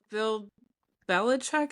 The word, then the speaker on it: Bill Belichick: Bill Belichick, is that how you say his name?